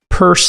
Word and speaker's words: Peirce: welcome back to this week in startups hester purse is here her name is spelt p-e-i-r-c-e go ahead and follow her on